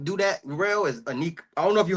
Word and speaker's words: Iniko: And so Aniko as well. I hope I'm pronouncing it right, but it's spelled Iniko.